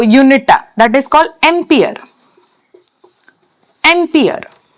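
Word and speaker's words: ampere: okay तार जो unit that is called एंपियर एंपियर pronounce करबा एंपियर and symbol capital A capital A okay next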